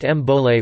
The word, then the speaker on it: Bole: It was replaced in 2012 with the new Bowl, pronounced Mbole, war cry.